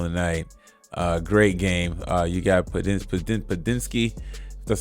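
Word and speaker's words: Podziemski: You got Padinsky.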